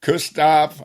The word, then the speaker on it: Koustubh: After all these years, I've realized that my name has so many nice pronunciations and each of them sound correct.